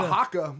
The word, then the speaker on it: haka: at the premiere He of said Aquaman, They did a haka. haka. Haka. Sorry. That's how they pronounce it in Polynesia.